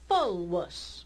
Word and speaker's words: fulvus: Fulvus. She pronounced this V, she said fulvus.